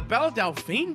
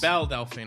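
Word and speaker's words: Belle Delphine: i was looking forward to doing oh the bella delphine box bell delphine i'm sorry let me just say chad anytime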